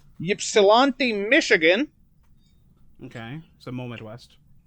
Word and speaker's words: Ypsilanti: Domino's, kind of, it's debatable here, but it was founded in 1960 in I don't know if I'm going to pronounce this right, Ypsilanti, Michigan.